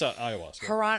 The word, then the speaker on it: ayahuasca: I always pronounce it wrong each time I say it. No, it's ayahuasca.